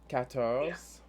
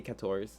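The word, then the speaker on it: quatorze: kind of sort of katos again with a q u right catos with the american accent you say kators it's fine and then uh 15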